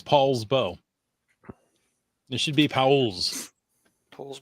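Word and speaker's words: Poulsbo: learned something new yes I don't know why it's Paul but it's Paul's bow it should be Paul's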